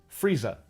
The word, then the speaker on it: freezer: freezer don't rhyme but the cockney dialect and most dialects of england are non-rhotic meaning that the r consonants are only pronounced before vowels freezer in north american english is frieza in cockney english and lisa rhymes with frieza i got some hands